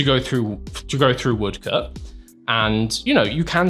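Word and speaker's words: Woodcote: Uh Woodcut is how you pronounce this.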